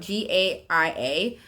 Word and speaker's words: Gaia: That's how I say it, but it's spelled Gaia.